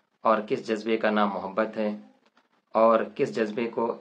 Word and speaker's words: محبت: جہاں تک بات ہے، محبت میم کے پیش کے ساتھ زیادہ تر مستعمل ہے، لیکن در حقیقت میم کے زبر کے ساتھ محبت تلفظ زیادہ درست ہے۔ تو چلیے ہم بات